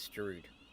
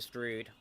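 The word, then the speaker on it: Strood: I keep saying Stroud, it's Stroud. I keep pronouncing it with a U, but into Stroud.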